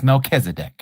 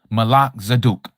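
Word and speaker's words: Melchizedek: You may know it as Melzdc. True pronunciation Malak Zaduk.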